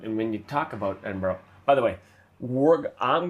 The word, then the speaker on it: Edinburgh: And because we've been told by Scottish people that's how to say it.